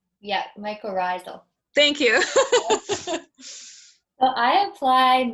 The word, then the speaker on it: mycorrhizal: Tamara's asking, is it too late in the season to apply, I'm going to maybe not pronounce that right, mycorrhizal? Yeah, mycorrhizal.